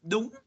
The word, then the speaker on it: đúng: That's and yes is đúng. Yes. Đúng is mean yes. Đúng. Đúng. Đúng. Okay. Đúng. Spell it.